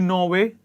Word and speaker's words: Norway: russia brazil and norway when it comes to norway there is a vowel sound or vowel after norway and we do not pronounce the word the letter the r sound in the word norway next list is brown green